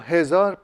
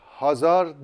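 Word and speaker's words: هزار: hezar sevgili izleyenler bu hezar bin demek Bin okunuşu da değişmemiş Türkçeye geçerken yanlışlıkla veya Eee söyleme tarzı olarak değişmiş olabilir bazan bu hezir Hazar değil Hazer de değil biliyorsunuz Hazer kelimesi başka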